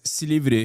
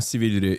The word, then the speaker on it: Silivri: The mayor's detention provoked the country's biggest protest against Chatters will recognize Silivri. He said it wrong. It's not Silivri. It's Silivri. Okay.